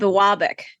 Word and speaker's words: Biwabik: United States is going to screw up the pronunciation of the city. It's called Biwabik.